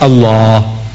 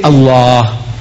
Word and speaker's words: Allah: right if it's a l a h is Allah you say look say Allah my language my language I want you to pronounce as I want you to pronounce you